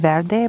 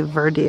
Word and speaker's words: Verde: that this is in I thought it was probably pronounced bad day but they say Verde a lot it had